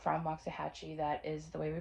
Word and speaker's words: Waxahachie: So I went to Waxahachie, and if you're not from Waxahachie, that is the way we pronounce it, which is just the next big box store up.